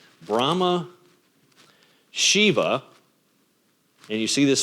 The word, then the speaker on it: Shiva: SI Iva or sh sh Iva you also hear it pronounced in different ways Shiva um and Vishnu v